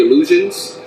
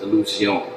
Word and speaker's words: Illusione: I'm coming in, I'm just like, yo, do you guys actually carry illusions? And Monique and have all of her sophisticated, oneness with the universe. She's like, well, it's actually pronounced Illusione.